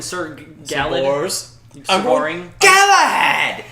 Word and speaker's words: Galahad: Galahad. It's pronounced Galahad.